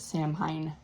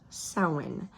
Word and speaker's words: Samhain: of it because all of us Americans probably pronounce it Sam Hine cuz that's how it's spelled but apparently is pronounced sin so sin was one of the four fire